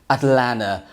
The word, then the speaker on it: Atlanta: and take you to Atlanta Georgia or as the locals say it Atlanta well Alex chamada has